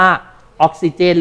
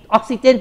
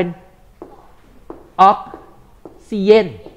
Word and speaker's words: ออกซิเจน: มาก นะ แล้ว ก็ มี คน ออก เสียง ผิด นะ ตัว G เป็น ย ยักษ์ ก็ เลย กลาย เป็น ออกซิเยน อ่า แล้ว มี อีก